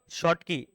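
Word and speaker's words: Schottky: शॉर्ट की। ठीक है, अच्छा यहाँ पर एस सी एच था ना, स्पेलिंग जरा चेक करना तो, कि बराबर एस एच, एस सी एच है ना?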